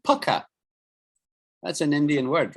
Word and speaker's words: pukka: So we pronounce it as pukka. P-A-K-K-A. So in English, it's written as P-U-K-K-A. Pukka. Yeah, pukka. That's pronounced.